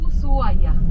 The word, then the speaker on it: Ushuaia: so hello good morning welcome to usual that's the way that we pronounce the name of the city yeah let's